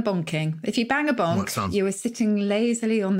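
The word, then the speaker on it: banc: So the bonk bit is actually from the French bonk, B-A-N-C, although it is spelt as in the rude version of bonking.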